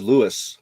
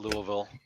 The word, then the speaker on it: Louisville: keep wanting to Callis I know that one's Lewis because it's not cool I always call it Louisville y that one's like